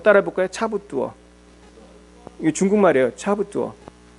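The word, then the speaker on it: 差不多: 차부뚜어. 한번 따라해 볼까요? 차부뚜어. 이게 중국말이에요. 차부뚜어. 자, 사모님 발음해 보세요.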